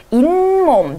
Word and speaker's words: 잇몸: 등굣길, 길로 나기 때문에 이것도 마찬가지고 잇몸, 니은이 한 번 더 나기 때문에 마찬가지입니다.